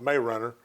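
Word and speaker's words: Marianna: the chipotle river from mariana that's pronounced may runner uh you ease down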